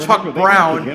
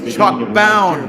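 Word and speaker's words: Chuck Bown: they got it wrong it's not Chuck Brown It's Chuck bound oh my God to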